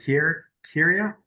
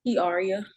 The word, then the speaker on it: Kiaria: Is it Kyria? It's Kiaria. Yaria?